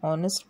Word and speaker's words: honest: example rohan is an honest boy here h may be a consonant but it is silent so therefore we use